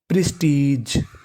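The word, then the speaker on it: prestige: है जी ई और आपको याद रखना है कि अगर आपको इंग्लिश की किसी भी मीनिंग के आखिरी में इ लिखा मिले तो हमें इ का उच्चारण नहीं करना हमें खाली जी का उच्चारण करना है तो मीनिंग बन ग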